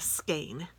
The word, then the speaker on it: skein: it's also called a skein and my French while I told me the way to remember that is s and then cane so it's easy to